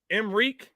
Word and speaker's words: Emreek: He said it's pronounced Mr. Reek, not Mr. Rec. Okay. Emreek is what it's pronounced.